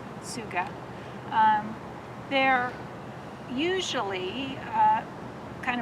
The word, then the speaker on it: Tsuga: hemlock genus is Suga it's a silent T so it's TS G Suga um they're usually uh